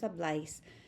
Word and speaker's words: habláis: Because it's an AR ending, the accent is on the A of the vosotros form.